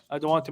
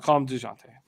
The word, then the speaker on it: Dejounte: DeJounte. I'll call him DeJounte if you want that. But in San Antonio, do you think everybody will be pronouncing a hard J on that?